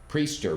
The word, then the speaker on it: Priester: name of Tommy christer do you pronounce a Christer priester priester with a long e yummy long e and Tommy has been